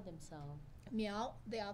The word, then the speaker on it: Miao: population in China what do they call themselves meow they are called me all people Chinese how